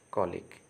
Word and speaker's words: colic: Okay, but actually it is not kulik, it is colic.